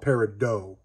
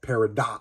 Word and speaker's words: Peridot: me when I said Peridot the one time. So everybody pronounces this slightly different. So either way, Peridot, Peridot, I'm going to call it Peridot. I think both are fine.